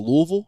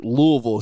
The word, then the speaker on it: Louisville: Uh is it it l and I was like Louisville? She's like Louisville. I said no Louisville. It's it's all one syllable, you know.